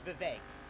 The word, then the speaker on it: Vivek: How about you guys it's Vivek. V-I-V-E-K. Vivek. It's funny because that rhymes with Lil Dick.